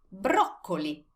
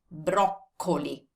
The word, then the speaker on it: broccoli: Broccoli is broccoli. But pay attention to the way you pronounce it. There's a double C in Italian. Broccoli.